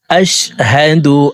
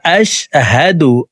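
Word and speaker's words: أشهد: দেখুন, এখানে হা জবর হা, হার উচ্চারণ হলকের শুরু থেকেই পড়ব। আশহাদু, আশহাদু বলা যাবে না।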